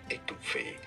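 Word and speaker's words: étouffée: In French, it is said as étouffé, étouffé, meaning smothered or suffocated is what it means. In English, it is normally pronounced as étouffé, étouffé, from French, étouffé.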